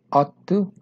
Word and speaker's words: ought to: La única diferencia es que ought lleva tu, ought to, y la pronunciación es de la O a la T, ¿ok?